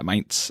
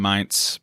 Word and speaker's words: Mainz: Yeah, Mainz.